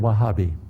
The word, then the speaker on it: Wahhabi: Say the word Wahhabi. It's spelled W-A-H-H-A-B-I.